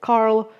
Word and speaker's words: Carl: Carl in English is written with a C, but it's pronounced with a K.